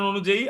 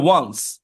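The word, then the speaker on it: once: আমরা কথা বলতেছি তাইলে অনেকে এটাকে ভুল করে উচ্চারণ উচ্চারণ করে অন সি তাইলে যারা জানে না সে প্রথম শব্দটা উচ্চারণ করবে কি অন এটা হবে ওন্স তাইলে ওন্স আপন এ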